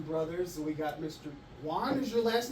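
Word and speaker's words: Waun: Juan. Is your last name? Is it Juan? Abe Juan? Spell it. W-A-U-N. Like Obi-Wan Kenobi.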